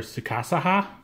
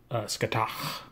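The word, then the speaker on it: Scáthach: So we have Scathach, or if you go by the Japanese pronunciation, I think they want you to call her Tsukasaha. When I listened to the Irish people, it was Scathach. So, however you want to say her name, this is Lancer.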